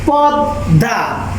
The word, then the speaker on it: পদ্মা: পদ্মা, এ মডা ধয়ের উচ্চারণ হয়ে গেছে, তার মানে দ্বিতীয় উচ্চারণ হয়েছে।